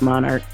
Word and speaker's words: MNRK: myself but um yeah it's actually pronounced monarch so they're going to